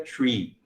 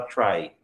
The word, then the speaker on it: trie: pessoas falando try, mas a origem da palavra, do termo, da estrutura, do nome da estrutura, vem da palavra retrieval. Então, seria tree. Mas o pessoal não gosta de pronunciar como tree porque confunde com árvore, né? Que é tree. Então, você daí fala try, para diferenciar, tá?